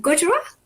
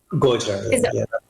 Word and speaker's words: Gojra: I'm not sure how to pronounce that. Is it Gujarat? Gojra, yeah.